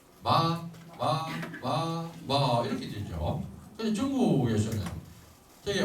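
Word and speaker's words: 妈: 그래서 요거를 발음할 때는 마인데 5에서 5로 발음을 합니다. 1, 2, 3, 4, 5단계 소리 정도에서 마 이렇게 이 소리를 낸다는 겁니다.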